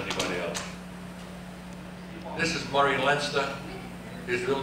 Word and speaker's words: Leinster: Many people mispronounce his name as Murray Leinster, but I once asked him, how do you pronounce his name? He said, Leinster, as in Fenster.